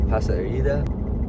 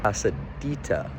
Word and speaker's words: Pasadita: I went to try out the place La Pasadilla. Not great pronunciation. Excuse me, Senor Charbonnet. I've heard really good things about it from friends. So I was incorrect. This place is actually called Pasadita, not Rita Dita.